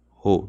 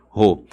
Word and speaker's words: rho: Essa letrinha grega se pronuncia assim, ó. Rho, tá bom? Rho.